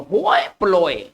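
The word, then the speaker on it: hoi polloi: देखिए एक बहुत अच्छा वर्ड है होए प्लोए, इसको किस तरह से पढ़ेंगे? होए प्लोए, है ना, द यहां द लगा रहता है, द होए प्लोए।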